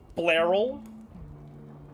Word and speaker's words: Blerol: Yeah, I'm going to pronounce it like Carol, but with B-L. Blerol.